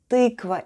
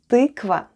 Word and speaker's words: тыква: Let's spell the word tykva. The first sound is t, then we have y. Try saying e while pushing the tongue to the back of your mouth. Y. Then goes k, v, and a.